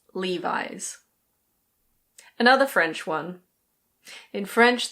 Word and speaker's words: Levi's: And now we have a well-known American brand, which is pronounced Levi's. Levi's. It's not Lev-ees. It's Levi's.